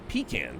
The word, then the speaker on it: pecan: the other one was like some people will pronounce pean pan and it drives me bonkers cuz it's always been pecan for me not pean it's like that's nah